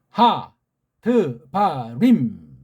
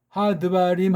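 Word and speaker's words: הַדְּבָרִים: 나와 이런 엘 레흐 하 드바림 림 이렇게 우린 미음 자를 확실히 내는데 딴 나라소리 미혹 소리 가만히 들으면 하드바 im 하지만 자가 어영부영 구렁이 담 넘어가요 그건 하나님이 싫어하는 아주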